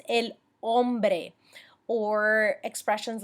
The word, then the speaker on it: hombre: you with that now the H pronunciation ladies and gentlemen it is silent ok so make sure that you're not saying things like el hombre it's el hombre or expressions like tengo